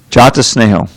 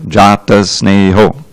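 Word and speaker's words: jāta-sneho: Okay, now Jata Sneho, you have to give the O its due. It is a fully long Jata Sneho. All of those letters, those syllables are of equal weight.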